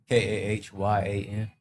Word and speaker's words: Cayenne: Cayenne like pepper messed me up. That's why I got 1,000 nicknames. Cayenne. It's Cayenne. Spell it. Kahyan. Yan. Cayenne. Like Gohan. Like Gohan.